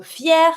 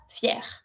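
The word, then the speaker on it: fière: for the masculine, and if it's feminine, you can add your feminine e, but don't forget to put a low accent on the first e. But, it's the same pronunciation. Fier, fier.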